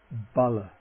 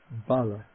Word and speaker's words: bala: Bala Bala.